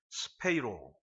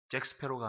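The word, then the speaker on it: σπείρω: 여기 흩어지니라라는 단어 디아스페이로라는 이 단어는 전치사 디아 무엇을 통하여 그리고 스페이로 잭스페로가 아닙니다. 모르시는구나. 우리 성도들은 영화를 잘 안 보시는 것 같아. 이 잭스페로 하면 딱 알아듣던데 그 해적 발음은 비슷하지만 헬라어의 이 스페이로라는 단어는 뿌리다라는 뜻이에요.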